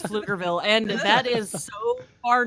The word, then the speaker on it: Pflugerville: It's spelled fluffer, but it's Flufferville. fluger. It's Flufferville. No, it's Pflugerville.